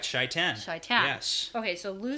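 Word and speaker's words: Shai'tan: credit for this one sure chaitan that's correct shaitan yes okay so lou says something about shaitan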